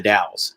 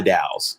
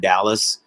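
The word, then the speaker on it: The Dalles: county seat of dao the daos the daos in case anybody wonders what that is it's not dallas if you ever see the dolls that's how you say it oregon's really weird we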